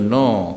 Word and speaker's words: know: indo-european language so say when you pronounce that k is silent right in english case island